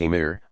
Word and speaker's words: Amir: Iberian Peninsula Muslim Prince's called Amir's literally commanders pronounced a meter established themselves in major cities in 750 the